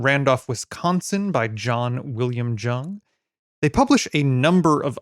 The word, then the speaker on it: Jung: It is spelled Jung, but I ended up going to the nursery that they run, and an employee pronounced it Jung.